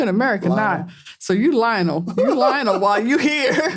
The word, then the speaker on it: Lionel: His name is spelled Lionel. That's how we would say it. Lionel Messi. But they say it like, Lionel.